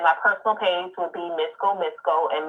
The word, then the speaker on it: Misco: And then my personal page would be Misco, and Misco is spelled MISCO, so like disco, but with the M.